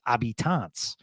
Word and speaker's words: habitants: It's habitants, and how they say it in Canada is habitants.